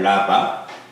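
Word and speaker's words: רבע: 라바. 약간 히브리어 발음을 약간 레쉬 자체가 후음이기 때문에 라바 이런 식으로 발음이 되는데 라바예요.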